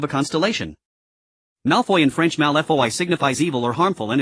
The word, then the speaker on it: Malfoy: Malfoy in French Malfoy signifies evil or harmful, and its pronunciation echoes the word malform.